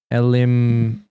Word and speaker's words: Elimian: Elimian.